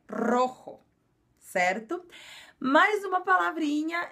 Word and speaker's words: rojo: de novo no Rojo apesar de ser um R só no início da palavra nós pronunciamos ele com um pouquinho de puxadinha então então o vermelho é Rojo certo mais uma palavrinha